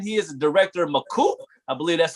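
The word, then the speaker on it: Makuu: Did I say that right, McCoop?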